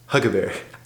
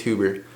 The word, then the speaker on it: Huber: Hey Gunther, it's Huber, pronounced Huggabear. That's how it's spelled, bro. I'm just kidding. It's Huber.